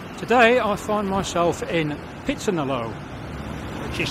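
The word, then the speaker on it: พิษณุโลก: Today I find myself in Pitsanalo, which is spelt Pitsanalok, but is pronounced Pitsanalo.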